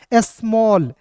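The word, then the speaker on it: small: देखिए एस एम है तो एस्मा पढ़ेंगे, और ए डबल एल है तो इसका उच्चारण ऑल के रूप में करेंगे दोस्तों, हो जाएगा स्मॉल। फिर देखिए यहाँ पे एस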